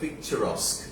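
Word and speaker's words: picturesque: খুব সুন্দর ইংরেজি লিখো এটার উচ্চারণ হবে পিকচারাস্ক কিন্তু দেখে মনে হবে পিকচারস কিউ হ্যাঁ লিখো পিকচার লিখে এস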